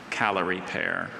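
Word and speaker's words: Callery pear: Calorie pear.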